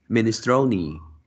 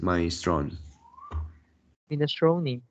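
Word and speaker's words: minestrone: word this one is minister ministroni yeah and you pronounce as my strong inner when buying kale looking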